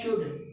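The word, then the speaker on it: should: यहां लिखा हुआ है शुड। हमने शुड शुड में हमने एल लिखा तो है मगर यहां एल साइलेंट है।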